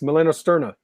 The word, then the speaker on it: melanosterna: Melanostera? I don't know how to say it. Nice. Melanosterna. Yeah. Wonderful.